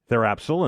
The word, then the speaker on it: Therapsil: Director of Communications for Therapsil, and that is John Gilchrist. John, how are you? And am I saying that right? Which part? The name of the company. Sorry? Yeah. The P is silent, but okay.